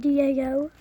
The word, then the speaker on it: DAO: going to be going with the Walter P99 da o d a o yeah I said it right